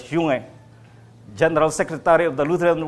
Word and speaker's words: Junge: In 2016, Pope Francis and Reverend Martin, it's pronounced as Junge, General Secretary of the Lutheran World Federation, embraced on October 31, 1516.